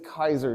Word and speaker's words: Caesar: what a guy named Gaius Julius Kaiser did yeah you guys incorrectly call him Julius Caesar Caesar I'm gonna do